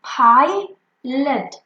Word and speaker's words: pilot: If we break it here from pi, you can see that the first syllable is ending at a vowel I and we will say it I.